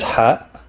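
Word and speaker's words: ح: in jar this is hat which is pronounced as an H with a constriction of the throat giving it a sharper sound than H it's not ha it's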